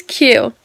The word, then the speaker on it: AQ: dude his name is Q but it's spelled AQ the a is silent his name was cute